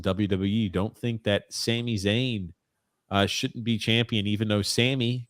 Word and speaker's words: Zayn: who Sami Zion is it's Zayn you said it actually you said it right I was stunned you